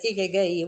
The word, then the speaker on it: ikigai: Pronounced as ikigai.